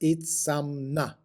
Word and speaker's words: Itzamná: a prominent nose and Toothless mouth itna is pronounced itna so there's the inspiration for our name of